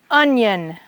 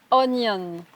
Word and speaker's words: onion: And then there are the I-O-N, yun, that doesn't have the T. For example, union, Union, onion. onion.